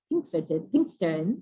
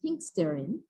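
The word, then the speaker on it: Pinxteren: be given by Pinkston I always say your name wrong sorry then pink Stern this is correct yes who's coming from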